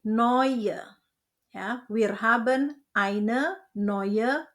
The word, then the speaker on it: neue: Eu dibaca oi jadi neue.